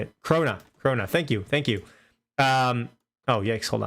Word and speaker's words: krona: Krona.